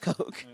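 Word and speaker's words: Koch: brothers Coke is that how you say yeah but they're they're but it's pronounced Coke but they're a bunch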